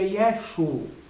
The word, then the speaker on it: Yeshu: o mais correto né então a pronúncia mais provável e mais correta do nome do filho de Deus quando ele nasceu seria yesu né no aramaico tipo Galileu né dentro do sotaque Galileu